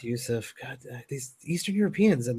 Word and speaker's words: Jusuf: Yusuf, yes. Come on, get it right. No, it's Jusuf. The J is silent, my friend. It's Yusuf.